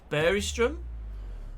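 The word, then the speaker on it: Bergström: I was someone was in the comment section recently actually saying that uh Bergstrom in Finnish is pronounced Beristrom.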